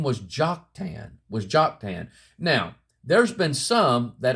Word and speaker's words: Joktan: Concordance and I defined Joktan, or you can say that J can be pronounced as a Y, Yoktan, let's just say that.